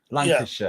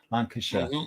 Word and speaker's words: Lancashire: It's like Yorkshire, Lancashire. Yeah. It's like an SHA on the end, not it's pronounced SHA. So it's Yorkshire, Lancashire, Leicester.